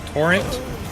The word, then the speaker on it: Torrent: I would kill the ability to use the great bow on tren. Huh? Oh, on torrent. Yeah, on torrent. You keep pronouncing it like turret.